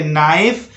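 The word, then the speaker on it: knife: ठीक है, तो के को शांत रखिए, बोलिए नाइफ, उसके बाद बोलिए नी,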